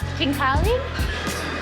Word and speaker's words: khinkali: So they're making the Khinkali? How do you pronounce it?